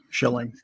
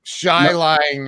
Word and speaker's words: Schilling: your last name right it's shilling correct shilling i mean i don't know how else you would pronounce that but but uh you never know shy lying or something every once in a while it's chilling right we have some